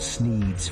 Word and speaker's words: Sneed: The shop is called Sneed's Feed and Seed, where feed and seed both end in the sound eed, thus rhyming with the name of the owner, Sneed.